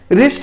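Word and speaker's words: wrist: रिस्ट यानी होता है कलाई। जब भी डब्ल्यू आर के पहले आएगा तो आर को डब्ल्यू को नहीं पढ़ेंगे, जैसे रिस्ट हुआ, रोंग हुआ, ऐसे बढ़ाते हैं दोस्तों।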